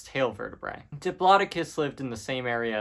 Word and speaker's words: Diplodocus: Okay, next is Diplodocus or Diplodocus if you're me.